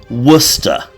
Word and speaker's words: Worcester: say John was in Worcester ah and yes for the American viewers wora and for the sord Worcester sh like Lord of